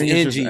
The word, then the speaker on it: NGO: So is that how you say it, or is it NGO? It's NGO. I don't know. Because it's short for nothing grows overnight.